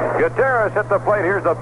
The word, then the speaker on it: Gutierrez: in there one ball two strikes actually this guteras we're calling him g-u-t-i-e-r-r-e-z he would pronounce it Gutierrez with the eye here's a